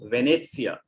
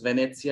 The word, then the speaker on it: Venezia: or to use the uh no the italian pronunciation of rome that is roma or venezia venice is venezia in italian and then milano which is in